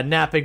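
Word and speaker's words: knapping: in the future yeah napping with a K so like chipping Stones against here to get sharp pieces of Flint so so like kapping um but the K is silent but with all that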